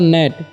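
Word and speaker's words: gnat: अक्षर है यहां पर नेट यानी की जी का उच्चारण नहीं हो रहा है साइलेंट है इसको क्या पढ़ एन ए टी नेट पढ़ेंगे ठीक इसका मतलब होता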